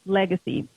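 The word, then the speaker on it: Legase: you guys see it it's l-e-g-a-s-e and it's pronounced legacy uh their hip-hop group their brothers to be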